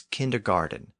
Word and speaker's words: kindergarten: In English, and especially in American English, it's pronounced with a D sound. So kindergarten becomes kindergarten, despite the fact that it's still spelled with a T.